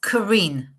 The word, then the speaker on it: Karin: oh so I forgot to ask you to pronounce your name for me it's Karen okay I had thought so but I wanted